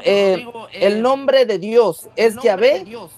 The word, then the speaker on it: Yahweh: Ya, entonces en ese sentido se le agregaron las vocales y quedó Yahvé o Yahweh. Esa es la pronunciación más acertada que hay.